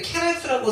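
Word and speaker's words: חרס: 마치 가래침을 뱉을 때처럼 격한 발음이 나서 어떤 분은 이것을 헤라스라고 쓰지 않고 한글로 쓸 때 케라스라고 쓰시는 분도 계실 정도로 격한 발음입니다.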